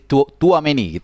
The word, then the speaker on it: Tchouaméni: Ya, bacanya jadi Tchouaméni gitu ya.